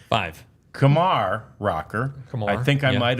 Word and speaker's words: Kumar: most of the media it's like Lamar It's Kamar uh which is a good way to remember it and uh that is how the correct pronunciation of of rocker's name is Kamar rocker it's it's so exciting